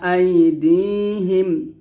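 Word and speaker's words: أَيْدِيهِمْ: বাইনা, ইয়ালামু মা বাইনা, হামজা ইয়া জবর আই, দাল ইয়া জের দি, আই দি, হা মিম জের হিম, আই দি হিম, একসাথে, ইয়ালামু মা বাইনা আইদিহিম, আইদিহিম দিয়ে টান দিবেন, ইয়ালামু, ইয়ালা, ইয়ালা, এরকম ভাবে পড়বেন না, ইয়ালামু, এরকম।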